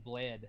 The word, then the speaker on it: Bled: There's a place we drove through called Lake Bled. It's like pronounced like B-L-E-D.